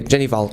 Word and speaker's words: Hval: norwegian ology it's ok Jenny vol ok fantastic because a easy on GH easy on the H mr.